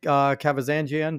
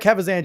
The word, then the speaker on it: Kavazanjian: He is Kavazanjian. Did I say it right? You said it right. Hell yeah, Kavazanjian.